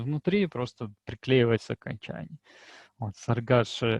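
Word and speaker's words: цæргæс: «саргаш» — это орел, читается большинством жителей севера Осетии именно так, то есть буква «С» произносится как «С», а буква, похожая на русскую букву «С», произносится как «Ш». Единственная дополнительная буква осетинской кириллицы — это лигатура АЕ, читается как русская безударная А, заударная А, то есть «саргаш».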